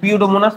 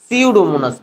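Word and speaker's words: Pseudomonas: হচ্ছে ওই যে পিউডোমোনাস কিন্তু পিউডোমোনাস তো না এটার নাম উচ্চারণ কি সিউডোমোনাস পি এর উচ্চারণ হবে না যাক প দিয়া ওই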